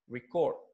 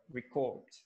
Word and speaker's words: record: to say this word so it will sound record so record and the second is record okay what is